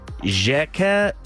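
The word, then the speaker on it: Xhekaj: let's hear it so his last name is jacket it's spelled x h e k a j so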